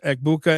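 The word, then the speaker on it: Egbuka: And, real quickly on the injuries, Igbuka and Puka, It rhymes.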